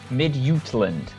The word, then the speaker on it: Midtjylland: Right, Ian, listen to me because I'm pronouncing both of these teams correctly. Ajax versus FC Midtjylland.